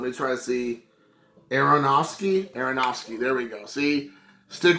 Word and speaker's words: Aronofsky: uh darren a i hate that i can't pronounce let me try to see aronofsky aronofsky there we go see stick with me long